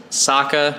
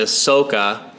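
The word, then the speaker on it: Sokka: Aang to Ong he changed Saka to Soca and he changed iro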